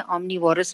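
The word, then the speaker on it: omnivores: और कार्निवोर्स हर्बीवोर्स एंड ओमनीवोर्स हैं. और मैं आपको ये भी बताऊं कि most of the people they pronounce it incorrectly. वो कार्निवोरस बोलते हैं, हर्बीवोरस बोलते हैं, ओमनीवोरस बोलते हैं.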